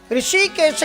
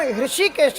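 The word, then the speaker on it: हृषीकेश: ऋषिकेश का वास्तविक नाम ऋषिकेश है। ऋषिकेश नहीं है। लोग प्रोनाउंसशन नहीं कर पाते इसलिए उसको ऋषिकेश कहने लगे।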